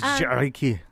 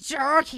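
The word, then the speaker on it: Gericke: It's Jarky. You gotta say it. Jerky. Yeah, Jarky. Jerky.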